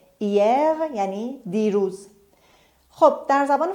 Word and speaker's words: hier: همونطور که گفتیم در زبان فرانسه حرف اش تلفظ نمیشه. hier یعنی دیروز.